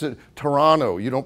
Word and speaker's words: Toronto: the restroom anymore it's the washroom and you pronounce it Toronto you don't pronounce it Toronto okay these types of immersion things and so